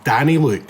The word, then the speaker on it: Danyluk: It's Danyluk, so it's like Danny and Luke together.